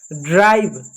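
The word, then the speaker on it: drive: Hope, HOP, hope, ई silent है। ड्राइव, ड्राइव में आप ई साइलेंट है, ई को नहीं पढ़ रहे हैं।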